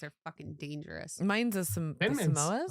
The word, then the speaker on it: Samoas: Mine's the Samoas. Samasoas. The Samasoas. That's not actually how you say it because that's just how I say it. I say Samasoas.